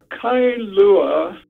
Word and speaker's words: Kailua: why is a town called kailua kailua two syllables is um etymologically literally